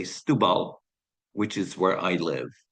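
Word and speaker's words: Setúbal: underneath Lisbon you see the name is spelled setubal the Portuguese say stal which is where I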